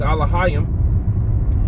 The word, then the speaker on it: Elohim: Uh some of them call it uh Elohim which the correct way to say it in the Paleo Hebrew is alohim.